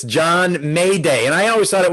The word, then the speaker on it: Maday: it may day see the j morphed into what became anglicized and morphed into a y got it got it